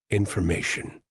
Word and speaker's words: information: here we're teaching pronunciation so how does Ty and actually sound because it's a t o n right it sounds something like this shun t on okay so just say shun Shan next May Shan